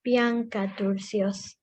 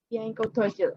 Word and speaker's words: Bianca Turcios: She is 9 years old, and it's pronounced Bianca Turcios. Bianca Turcios. Okay, thank you for telling me.